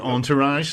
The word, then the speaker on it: entourage: uh okay okay i'll give it the proper pronunciation entourage stephen entourage yeah it would be entourage um